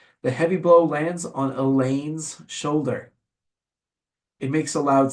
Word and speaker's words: Elaine: But Elaine rhymes with pain.